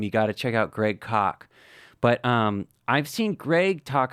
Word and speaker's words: Greg Koch: It's good old Greg Koch, rhymes with chalk, a guitar hero of mine for the last 20 years.